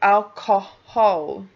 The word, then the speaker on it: alcohol: And that H is actually pronounced, so that is the 3rd syllable.